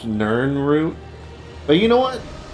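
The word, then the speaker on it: Nirnroot: Where's the Nin root? I hear it. Here it is. Actually, I think it's technically pronounced Nern root.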